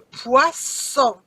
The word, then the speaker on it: poisson: You see the first S is between two vowels. Z sound. Le poison. But if I double my S, it becomes le poisson.